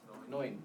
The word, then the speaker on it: neun: Neun.